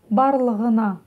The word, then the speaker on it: Барлығына: Ну, для начала попробуйте прочитать через букву «х». Барлых, х. А затем сделайте ее более звонкой. Г, г, г. Барлығына.